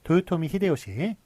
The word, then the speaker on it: 도요토미 히데요시: 그렇게 이름을 부르기도 했어요 그런데 일본 발음은 다르죠 도요토미 히데요시 이토 히로부미 뭐 이런식으로 이렇게 했었는데 어떤 식으로 표기를 하게 되느냐 일본식 발음으로 하기로 했습니다 그래서 도요토미 히데요시 그 다음엔 이토 히로부미 이런식으로 써주는 게 맞겠습니다 그래서 풍신 속에 이런